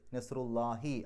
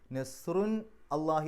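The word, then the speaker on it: نصر الله: നെസ്റുല്ലാഹി അവസാനത്തിൽ കെസ്ർ ഇടാനുള്ള കാരണം. ഇങ്ങനെ മുലാഫായിട്ട് വരുമ്പോൾ അതിന് തൻവീന് നഷ്ടപ്പെടും. നെസ്റുൻ അള്ളാഹി എന്ന് പറയില്ല, നെസ്റുല്ലാഹി എന്നാണ് പറയാം. അപ്പോൾ ഈ മുലാഫ് ആയതുകൊണ്ടാണ് നെസ്റുൻ എന്നുള്ളതിൻ്റെ തെൻവീന് പോയി നെസ്റു എന്നായത്, നെസ്റുല്ലാഹി.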